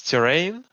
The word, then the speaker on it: Terrain: So it's terrain. That the correct way to say in the name? A terrain. Terrain, just like the terrain on terrain. the valley.